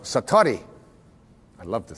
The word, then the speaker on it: satori: it's called excuse my japanese but it's called satori i'd love to say that sakurai s-a-t-o-r-i and